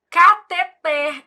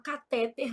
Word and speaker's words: cateter: Eu falo: "Júlia, você não é daquelas médicas que fala catéter, não, né? Porque sua mãe é professora de português, foi com esse dinheirinho que ela pagou os seus estudos. Então você vai falar catet, ela fica rindo."